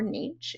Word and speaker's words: niche: It's some kind of deep dive that's niche um or niche if you say it like that.